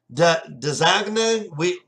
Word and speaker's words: DAZN: When DAZN first came out, we didn't even know how to pronounce it because it was so new that it was like Dazagna.